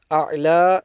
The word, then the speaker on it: الأعلى: A'la remains a'la. The ya there is silent, the ya on the end.